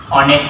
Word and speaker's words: honest: we can use A, but when H is silent, I give example just like owl. In this word H is silent, so we can use and. Another one is just like an honest person.